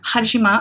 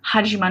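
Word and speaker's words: Hajime: knowing what it is hajima I think the mangaka name or the author's name is hajima not hajim hajima I believe that's how it's pronounced oh he like kind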